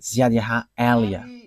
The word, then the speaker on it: Ziad Eliah: that is my name, so I pronounce it as my father pronounced it, Ziad Eliah.